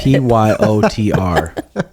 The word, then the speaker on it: Petr: Pyotr.